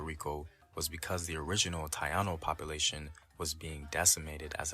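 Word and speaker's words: Taíno: together all right uh it's not tayano it's Taino my man ain't saying it correctly in case anybody gets confused like what's a tayano more people are more familiar with the traditional pronunciation of Taino okay uh he's going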